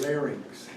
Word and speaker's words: larynx: to somebody yesterday and the way you pronounce the second and the third anatomical part is pharynx and larynx it's not fair nyx and larynx if i hear you